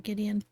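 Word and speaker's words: Gwydion: So, Gideon, even though it's it looks like it's Gwyon, but I think I saw an interview and Roberto Williams pronounced it uh Gideon.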